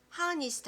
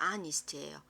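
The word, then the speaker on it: honest: 자, 이거 어떻게 읽어? H음이야, 광연아, 이거 H음이야. 하니스트 아니고 뭐라고 읽어야 돼? 오케이, 맞아. 아스트예요.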